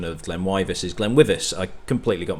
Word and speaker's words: GlenWyvis: For some reason at the start of this video I say that the pronunciation of GlenWyvis is GlenWyvis.